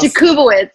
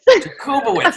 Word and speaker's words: Jakubowicz: I'm very excited to be joined today by my friend Jakubowicz. Did I pronounce that right that time? Close. Jakubowicz. Jakubowicz. I missed it by one thing.